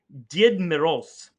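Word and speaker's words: Дед Мороз: And do you know what Father Frost's name, how it's pronounced in Russian? Is it Krampus? Did Moroz.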